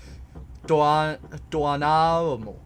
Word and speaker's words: Doanamo: Doanamo. But those two vowels are pronounced separately.